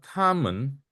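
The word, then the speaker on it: 他们: Maka tamen, men itu tidak ada ini ya, nada pendek. Tamen, jadi gitu aja. Mennya tidak usah pakai nada. Tamen, itu ya bawaan.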